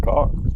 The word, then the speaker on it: Kerr: blue cat car like it's pronounced car no kidding that's what Wikipedia says it says pronounce c